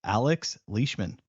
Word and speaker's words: Alex Leishman: the CEO of river that is joining us Alex leishman did I pronounce that correctly Alex you did yay thank